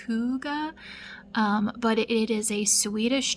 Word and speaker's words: hygge: So there's a term, it's called Hyggge, and I think it's actually pronounced hygge, but it is a Swedish term for like comfort in the wintertime.